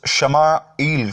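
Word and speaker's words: ישמעאל: 86 برس کا تھا۔ عبرانی میں اسماعیل کا تلفظ شمائیل کا ہے۔ شمع کے معنی ہے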